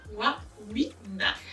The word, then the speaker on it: Wawina: C'est comment on prononce le nom? Magic Warina, n'est-ce pas? Warina.